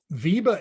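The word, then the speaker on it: VEBA: my list to look at remind me how it's spelled uh Viba is v-e-b-a here let me uh I'll I'll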